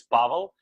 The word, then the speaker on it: Pavel: did I did I asked it's hard to pronounce probably for english-speaking people but my first name is Paulo and last name is so we